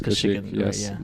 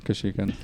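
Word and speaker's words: Kashyyyk: to pronounce it yeah it's kashik kashik I it's called it's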